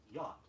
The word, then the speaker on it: yacht: The spelling Y-A-C-H-T indicates yacht. Yacht, just 3 sounds.